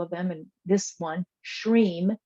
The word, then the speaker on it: Shreem: many there's several of them and this one shreem s-h-r-e-e-m as the way it's pronounced I'm not sure if that's how it's spelled but that is the way it is pronounced shreem um does resonate with me I've used it